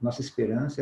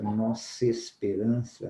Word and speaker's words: Nossa Esperança: as palavras e desloca-se distorcemos a pronúncia correta da frase de exemplo Nossa Esperança ler dois livros por ano não se Esperança o nossa esperança percebe quando nosso Mimo esses dois aqui esse essas duas vogais menina essas duas palavras nós duas cinza pronúncia nossa esperança Nossa Esperança Cadê o ar sumiu né nossa esperança